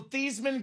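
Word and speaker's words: Theismann: old Joe thean thesman that's how it was pronounced Joe theeman grew up a superstar on the high school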